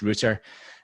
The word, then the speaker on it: router: connection and I replaced my crappy router which apparently should be pronounced rotor but I'm still sticking with a Scottish Rooter with a decent one